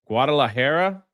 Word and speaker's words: Guadalajara: Guadalahara.